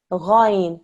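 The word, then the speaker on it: غين: Ghain. It's the thick and heavy sound.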